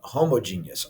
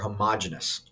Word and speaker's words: homogeneous: other group is called homogeneous or homogeneous that's the correct pronunciation but homogeneous kind of helps you remember all right the prefix